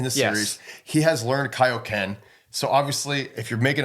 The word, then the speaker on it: Kaio-ken: this movie was the first time I ever heard it pronounced Kaioken yeah okay yeah cuz yeah in the in the episodes it was kooen and then the movie it was Kaio Ken maybe because it was